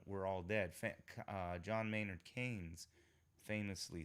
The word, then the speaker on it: Keynes: Some people mispronounce it as Keynesian. I don't know. It's Keynes, John Maynard Keynes.